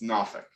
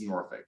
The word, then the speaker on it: Norfolk: But there's a small subsect of the population native to Norfolk who would say it's Norfolk. But the right way to say it is Norfolk.